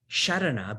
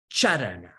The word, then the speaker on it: sharana: And earlier when the question was being asked, I heard it being pronounced not as sharana, but charana. Sharana sounds like charana, correct? And charana means feet.